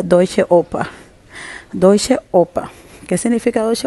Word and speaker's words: Deutsche Oper: Pues diré que se pronuncia Deutsche Oper.